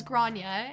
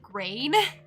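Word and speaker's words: Gráinne: So the first one was Grania, and I think I said Grain. Very sorry. That makes so much more sense when you say it like that.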